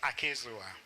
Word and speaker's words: Akizua: leave it at that m.c had difficulty pronouncing my last name but it's akizua so i'm professor akizua and vice chancellor of